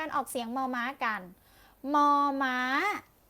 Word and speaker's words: มอ ม้า: เสียง มอ ม้า กัน มอ ม้า ออก เสียง ว่า More อามอ มอ มอ มอ ตัว ต่อ ไป ค่ะ